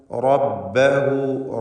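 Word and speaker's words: رَبَّهُ: വഅസാ ആദമു റബ്ബഹു. റാഇന് തഫ്ഖീം കൊടുക്കുക.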